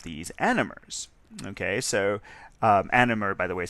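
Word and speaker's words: anomer: So um animer by the way is spelled a n o m er and that's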